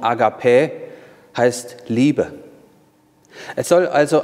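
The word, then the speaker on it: ἀγάπη: ein zu einer agape agape auf griechisch ausgesprochen akp heißt liebe es soll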